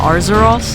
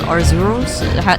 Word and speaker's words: Arzuros: Did she say Arzuros? Not Arzeros. Arzuros. Is that how you pronounce it?